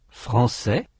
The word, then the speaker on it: français: Français, anglais, je vais, mais. Allez, inventer, discuter, policier, américain, italien, bien. Many French words are spelt with a final consonant that is not pronounced, except in liaison.